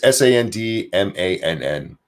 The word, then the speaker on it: Sandmann: It's Sandmann. There you go. CNN, I can even, YouTube, I can even spell it.